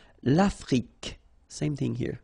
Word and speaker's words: Afrique: L'Afrique. Same thing here. Final it's only the k at the end that you will hear.